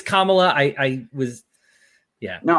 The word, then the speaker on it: Kamala: both just as bad my apologies for the mispronunciation I know some people do that to like be racist that I did that on it's it's kamla I I was yeah